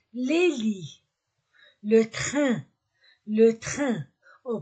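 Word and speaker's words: lits: on ne prononce pas on ne prononce ni le T ni le S les lit le train le train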